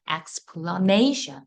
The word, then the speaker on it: explanation: 강세를 받으니까 발음이 애로 바뀌어요. 그래서 explanation 이렇게 돼요.